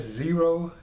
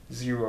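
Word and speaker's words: Xero: emperor I I guess zero is but it has like an X's name is spelled with an x-e-r-o so I think it's these are zero or something like that he's supposedly made a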